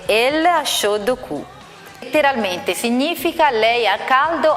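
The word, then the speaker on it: L.H.O.O.Q.: Infatti le lettere L H O O Q pronunciate in francese danno origine alla frase Lod Q letteralmente significa lei al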